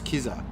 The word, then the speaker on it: Kizza: We've got Tarmac Terry in the house, who's great to hear from Kizza. I've been told it's Kizza, how you pronounce his gamer tag.